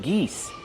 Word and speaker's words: geese: Geese, use the long E like C and me.